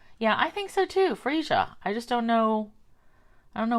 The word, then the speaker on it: Freesia: This is spelled Freesia. I say that Freesia. Other people I'm hearing say Freesia, like that's an A. So how would you pronounce it? E or A? I think it's Freesia.